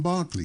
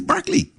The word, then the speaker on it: Berkeley: It's spelled Berkeley. It is Berkeley. Okay. But the The man's Barkleyites, name I'm was not- Berkeley.